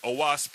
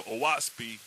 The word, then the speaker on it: Oahspe: use today but um the word oasp is broken down into three syllables o and the O represents the sky and the ah which is the ah represents the Earth and SP represents or means spirit so aasi is basically